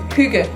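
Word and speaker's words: hygge: Do you pronounce it? Huga.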